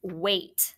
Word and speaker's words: weight: Well, if you know the number eight, that's a tricky word, right? You just put a W in front of it for this one.